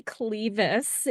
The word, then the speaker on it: Klieves: It's not spelled like Anne of Cleves, but you never know.